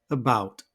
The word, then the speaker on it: about: First up, about. The first syllable with a schwa is unstressed, and the second syllable is stressed and marked in red. Note that the stress mark always comes before the stressed syllable.